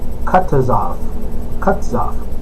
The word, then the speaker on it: Kutuzov: His name is actually Kutuzov.